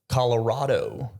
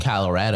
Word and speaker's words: Colorado: Telluride that area or as locals will say Colorado Colorado they say it wrong okay Colorado in their own home they say it wrong yeah they say Colorado wow that's dumb that is dumb yeah I know it's an A but it's probably Colorado it's